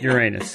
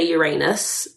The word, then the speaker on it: Uranus: who pronounce the planet Uranus and others that pronounce it Uranus? Oh my God. I think it's very geographical, I think a lot of English people say Uranus and a lot of Americans say Uranus.